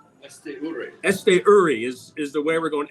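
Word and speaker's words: Esteury: I haven't looked at the pronunciation guide. It used to be last year Esture. Now it's Esture, right? Esture is the way we're going.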